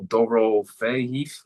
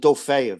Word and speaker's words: Dorofeyev: I repronounce his last name. And I think they pronounce it Dofeyev. That's what I heard them say because I had to go check too myself. So I think that's how they were pronouncing it, Dofeyev.